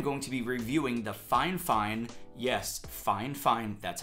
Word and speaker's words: Fifine: In this one, I'm going to be reviewing the Fifine, that's how you pronounce it, K669B condenser USB microphone.